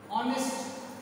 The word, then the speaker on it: honest: Honest, honest, yet is silent.